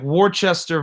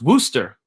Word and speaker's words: Worcester: The name sounds like Worcester versus Georgia, but it's actually not pronounced that way. It is pronounced Worcester, like a rooster, but with a W.